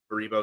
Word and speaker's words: Baribo: At this point, I don't even remember how to pronounce his name. It's Baribo, it's Ty Baribo, yeah.